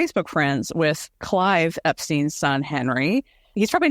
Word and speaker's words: Epstein: said hey you know I know that your father and your grandparents were Epstein you're probably epin but Brian was Epstein can you confirm and yep it's Epstein and he said Brian was upstein yep written 100% written